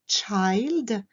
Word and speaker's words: child: chez les jeunes les enfants au singulier c'est child hélas le y chante my child cette petite leçon est maintenant terminée j'espère que